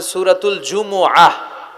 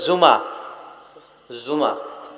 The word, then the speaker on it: জুমুআহ: সূরাটার নাম হচ্ছে সূরাতুল জুমুআহ। আমার সাথে সাথে বলেন সূরাতুল জুমুআহ। সবাই বলেন সূরাতুল জুমুআহ। অনেকে বলে ফেলে জুমা, জুমা। আসলে আরবিতে শুদ্ধ উচ্চারণটা হচ্ছে জুমু আহ, সূরাতুল জুমু আহ।